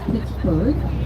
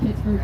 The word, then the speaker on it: Pittsburgh: it was brigadier general john ford that gave pittsburgh its name pittsburgh similar to edinburgh that's why pittsburgh has its h on the end if you want to